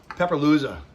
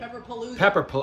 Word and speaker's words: Pepperpalooza: The event, Pepperlooza. The most Pepperlooza, right? Pepperpalooza. I knew I was missing a syllable.